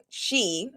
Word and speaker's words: sidhe: Sidhe pronounced she is a Gaelic word meaning fairy mound or